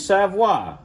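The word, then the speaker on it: Savoie: made by some folks named Savoy. Now, I know it don't spell the way you say it, but that's how you say it, Savoy.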